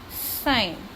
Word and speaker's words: sign: So we can write here the word sign, because in sign G is silent, and also one more word we have to write, so we can write here foreign.